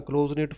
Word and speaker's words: close-knit: Collocations are a close-knit family, a close-knit community. It means having strong relationship with each other. Close-knit, not pronounced K.